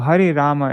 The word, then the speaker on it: Hare Rama: and Hare Rama well Hari Rama is correct it's just you know like in Bengali and Hindi they often don't pronounce the A's at the ends of words so that's the only